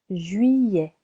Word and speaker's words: Juillet: Juillet, juillet, July. Double L sounds y. Juillet, 2 syllables.